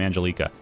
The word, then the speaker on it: Angelica: It's Angelica. Look, I have 3 friends that are named this. Exact same spelling. Every single one of them pronounces their name Angelica. I'm going to say how I want it. You can say how you want. It's fine. But I have 3 friends that will back me up, and that's how it's pronounced.